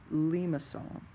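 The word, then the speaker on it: limaçon: now cardioid in a Lima song and this is how you say Lima song it's a French word Lima song that's what that Louis thing is doing on that C so we have cardioid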